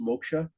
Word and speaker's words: moksha: But what are some of the main paths people follow to reach moksha generally? It small correction. It's normally pronounced moksha, Oh, moksha.